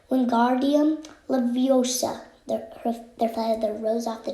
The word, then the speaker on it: Wingardium Leviosa: Wingardium Leviosa, he shouted, waving his long arms like windmills. You're saying it wrong, Harry heard Hermione snap. It's Wingardium Leviosa. Make the gar nice and long.